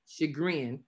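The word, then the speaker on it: chagrin: I tried to get a pron a good pronunciation on it but it's sh sh shagrin and it's talking about a distress or embarrassment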